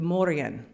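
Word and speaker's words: Morrígan: most fascinated by the Morgan though traditional gaic PR pronunciation which favors silent letters would address this goddess as the Moran she is the goddess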